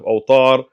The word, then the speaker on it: Awtar: So he's saying that in this book, Nail al-Awtar, again, his mispronunciation of Awtar instead of Awtar, I'm not going to get on.